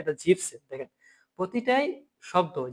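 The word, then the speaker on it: siebzehn: এখানে হচ্ছে জিপ সেন, এটাকে অনেকে জিবেন সেন বলে।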